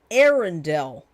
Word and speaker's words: Arendelle: It's pronounced Arendelle.